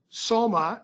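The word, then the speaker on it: Sulyma: presentation in this case soma as that as the plaintiff pronounces his name is somebody who was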